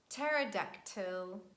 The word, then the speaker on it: pterodactyl: Letter P is always silent at the beginning of words in such combinations PS, PT, and PN, so it's not pronounced. And we say psychology, psychic, pneumonia, pterodactyl.